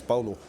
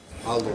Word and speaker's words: Paulo: It's Paulo. Paulo, like with a B almost? Yeah, so in our culture, our language, the P is pronounced with B for Bob, so it's Paulo.